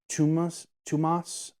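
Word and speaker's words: Tuomas Pirinen: tabletop skirmish wargaming space, Tumas Pirinen. It's like, he's Finnish, so like it's Thomas, but like Finnish pronunciation, and it's Tumas or Tumas.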